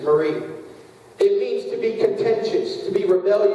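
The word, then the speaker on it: מרי: Bible is from is formed from the word m r i y which is Marine if you want to the technical pronunciation is Marie it means to be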